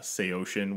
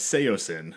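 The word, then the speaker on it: Saosin: know just the Anthony Green projects old uh SE ocean which is how that's pronounced which ruined my entire like I I used to listen to them and refer to them as seoin wait what right isn't that crazy wow I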